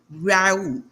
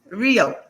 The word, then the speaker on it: Rio: And today's guest is Rue. Did I pronounce that correctly, your last name? Rio. Rio.